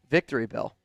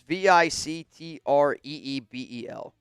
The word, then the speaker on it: Victreebel: Victory Bell.